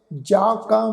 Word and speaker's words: ਜਾ ਕਾ: इसनू साध संगत जज्जे नू कन्ना उपर बिंदी लगा के उच्चारण नहीं करना, बिंदी रहत उच्चारण होएगा। इत्थे नासक उच्चारण नहीं उच्चारण करना।